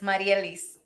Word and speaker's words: Marielise: Marielise, how do you say your name? Yes, Maria Liz. You say good. Marielise.